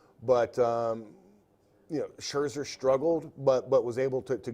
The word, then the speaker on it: Scherzer: But Scherzer's the best pitcher on that team. How do you pronounce his name?